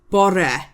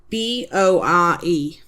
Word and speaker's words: bore: So morning is bor b o r e bore.